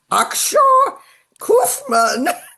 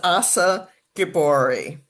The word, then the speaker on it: Achsah Guibbory: people out he says Ashawa Kman. Oh my god. Oh my god. Um, so anyhow, so the introduction is how I really say my name. It's Assa Gabbori.